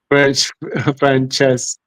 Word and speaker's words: Franceschetti: The company CEO, Matteo Franceschetto, Franceschetti, oh my gosh. Yeah. Well, CH in Italian, so it would be Franceschetti. It sounds like a K, really.